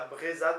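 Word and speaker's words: Vrezhon: À Vrezad, mais en fait on prononce à Brezad, même s'il y a un V devant. À Brezad, donc breton.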